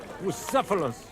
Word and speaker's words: Bucephalus: It's pronounced Bucephalus, Ishka.